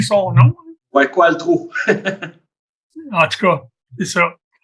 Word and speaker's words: Qualtrough: Quand on lit les lettres, là, ça sonnerait différemment, mais on prononce Qualtrough ici à la Chambre.